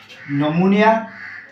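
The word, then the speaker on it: pneumonia: नमूनिया, P silent है, नमूनिया, पिलियोरो नमूनिया, एल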